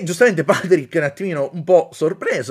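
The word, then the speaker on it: Pádraic: tra i due protagonisti Patrick che però è scritto non Patrick come professoressa iscritto alla irlandese che è Pad Drake scritto però si pronuncia Patrick a quanto pare e colm perché Perché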